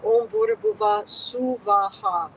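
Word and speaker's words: Om Bhur Bhuvah Swaha: For this fire homa, Om Buhr Bhuva Swaha, 3 separate equal syllables.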